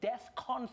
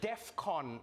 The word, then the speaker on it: DEFCON: not the point but that's not how you say it nah I know it's not the main issue here I know that but it's Defcon 3. we're learning three a Defcon sounds like like a trade show where they unveil